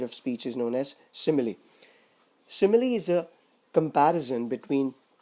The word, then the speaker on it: simile: This figure of speech is pronounced as simile.